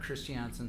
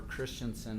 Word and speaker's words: Christiansen: At some point, Eric Christiansen said, or Christiansen, apparently I've been pronouncing it wrong for several years, said, your buddy took out Gwyneth Paltrow.